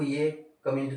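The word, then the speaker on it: yacht: Next आपको लिख लें YATCH, याक, ये T साइलेंट हो गया, क्यों हुआ वो आपको रीजन बताना है।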